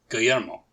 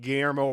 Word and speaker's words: Guillermo: I'm going to spell it out for you and ask you to try and do your best. It's Guillermo.